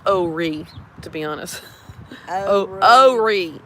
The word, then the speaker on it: Horry: It's pronounced Horry, to be honest.